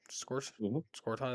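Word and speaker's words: Scourton: Scorton is how you say it.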